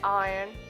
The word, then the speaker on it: iron: artisans the other way please remember to say iron so that it will solo or rhyme with lion advertisers advertise advertisement will